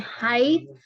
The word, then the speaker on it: high: Jadi high, tulisannya kan ada GH-nya. Ini dibacanya high gini. GH-nya nggak dibaca.